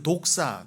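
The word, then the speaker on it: δόξα: 맨날 하나님의 영광이 뭔지도 모르는데 그 독사 그 헬라어로 독사예요. 뱀 말고요. 우리나라 말 발음이 비슷합니다.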